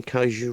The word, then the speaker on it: kaiju: a teeny bit of history about kaiju or kaiju films, kaiju is the Japanese term that is commonly associated with media involving giant monsters. It literally means a strange beast. Am I pronouncing kaiju right?